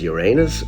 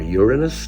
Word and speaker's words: Uranus: by telescope in 1781 it was Uranus or Uranus depending on your pronunciation Uranus or Uranus was